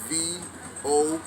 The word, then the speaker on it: Vodun: and Voodoo is spelled V-O-D-U-N. It's not voodoo, Vodou or any other variations. When we're talking about the original root African expression, we are talking about Vodun, V-O-D-U-N.